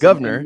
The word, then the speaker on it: Govnar: And am I pronouncing that right? Governor. Of course I put a hard AR in there. It's Governor.